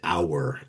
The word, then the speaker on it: our: I was in a choir once where the the director insisted on o you r being pronounced our almost as if it was a two-cllable word just and and to overunciate